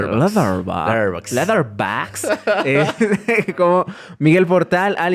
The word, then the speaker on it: Letterboxd: Me pueden seguir en Instagram como maps-2208, en Letterboxd, así se pronuncian los ingleses. Letterboxd.